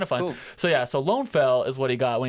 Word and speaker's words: Lønnefelt: fun so yeah so lone fell is what he got when he translated it to Norwegian um and so and I think it's pronounced like Lonnie felt but I was like